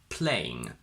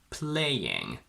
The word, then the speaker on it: playing: But we also have a version with a bit of an intrusive y sound, because we can now see this word as a combination of 3 vowel beats, the I from play and the I from ing. So just like chaos, we can now say playing, playing. Both these versions are perfectly correct.